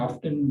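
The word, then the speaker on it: often: इसी तरह से साइट है, और इसी तरह से नेक है, ये पीपल, इसको आप ऑफन या ऑफ्टन जो पढ़ना चाहें आप पढ़ सकते हैं।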